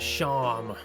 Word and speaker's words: Seam: The name's Seam, pronounced Sham.